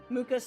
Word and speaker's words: Mucha: Mucha's spelled like matcha. It's Mucha.